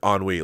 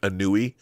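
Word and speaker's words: Annwn: the anwe trilogy the the word anwe like it's spelled like anui it's anwe so it's the onwe trilogy not the eclipse and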